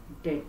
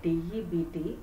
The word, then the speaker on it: debt: Here comes the word debt, D-E-B-T, B is silent here, we refer it as debt.